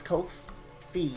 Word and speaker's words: Ko-fi: And yes, Ko-Fi is pronounced just like that. It rhymes with no fee, according to the...